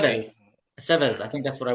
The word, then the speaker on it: Aceves: And he said we pronounced his name properly. Aceves. Okay. Aceves.